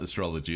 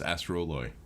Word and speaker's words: Astroloy: now there it is oh it's not it's ass astrology not astrology it's astroloy my bad uh copper steel